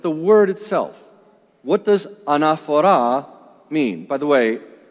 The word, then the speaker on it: anaphora: let's look at the word itself what does anaphora mean by the way it's spelled in English ene pH o ra enough hora linguistically of course it's a Greek word it